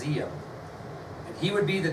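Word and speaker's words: Diệm: Although it's got a D, it's pronounced Diem. And he would be the democratic leader of South Vietnam, No Dinh Diem.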